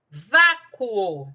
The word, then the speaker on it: vácuo: Vácuo, separando, vácuo, 2 sílabas. Então, nesse caso, eu tenho uma paroxítona terminada em ditongo crescente.